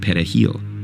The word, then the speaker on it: perejil: Dominicans pronounce it perejil with a trilled Spanish R.